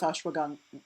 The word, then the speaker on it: ashwagandha: A lot of people are familiar with ginseng, and more and more people are becoming familiar with ashwagandha.